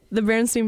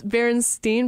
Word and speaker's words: Berenstain: So basically, the Berenstain Bears. Oh wait, no, it's Berenstain versus Berenstain, yeah. Right? Like Berenstain. It's spelled wrong, and it's crazy because everyone kind